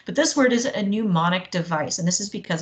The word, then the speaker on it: mnemonic: us remember latin cases pneumonic is a really crazy weird fun word okay it's from a Greek word which is why it starts with a silent n I mean how many